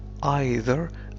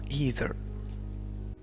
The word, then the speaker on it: either: هذه الكلمة تنطق either أو either.